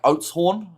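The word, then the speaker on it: Oudtshoorn: And pronounced more like Oatshorn with a rolled R.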